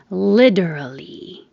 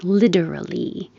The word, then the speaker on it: literally: Literally. The T changes to a D. Literally.